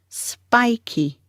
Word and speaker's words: spiky: Stress on the first syllable, spy. The second syllable is key, spiky. He's got spiky hair.